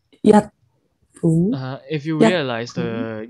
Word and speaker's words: 日本: So 日本 is a low tone and then rising tone. 日本 if you realize the 日 is the one with in 星期日 also.